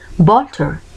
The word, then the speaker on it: Walter: Se utiliza en las palabras de origen alemán, como por ejemplo Walter, y suele pronunciarse como la V, por ejemplo Walter, Walter.